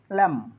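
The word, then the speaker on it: lamb: বি এখানে বি উচ্চার হবে না কম কম ল্যাম টম থাম bomb Lim okay so be silent থাকবে এবার কে সাইলেন্ট থাকবে কখন কে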